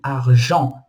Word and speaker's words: argent: E a última letra é a letra T, que a gente não pronuncia ela também, argent.